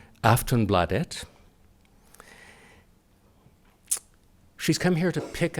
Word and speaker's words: Aftonbladet: She is the political editor of Sweden's biggest daily, and I'm told I'm pronouncing this correctly by saying Aftonbladet.